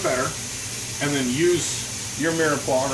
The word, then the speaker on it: mirepoix: Now, in French, we call these guys here, this trinity, right, of the carrots, onions, and celery, we call it mirepoix. M-I-R-E-P-O-I-X, mirepoix. They never pronounce the last letter.